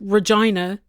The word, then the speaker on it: Regina: You answered it yourself, Jim, because in 1880s in Britain, they said Regina, and that was the official title of Queen Victoria, and they were naming Regina after her because she was the colonial queen of Canada. They didn't want to offend her by mispronouncing it the way that she pronounced it.